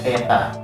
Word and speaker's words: theta: Jadi ini bacanya theta.